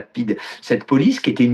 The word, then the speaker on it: PIDE: On l'appelait la police internationale de défense de l'Estado Novo, et ça s'écrit PIDE, et donc c'est la PIDE.